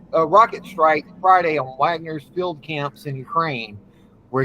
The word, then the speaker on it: Wagner: March of Justice progression declared oh and it's pronounced Wagner may have just joined NATO well no still